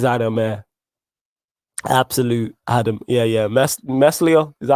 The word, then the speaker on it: Meslier: Meslier, is that how you pronounce his name? Meslier, yeah.